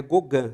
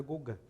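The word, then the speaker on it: Gauguin: gente tem que falar a maioria erra né então é gogan se escreve de alguém mas é Guga só com 35 anos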